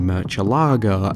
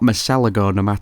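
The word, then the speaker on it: Murciélago: up with a Lamborghini Murcielago (and yes, that’s how I pronounce the word, not mercellago).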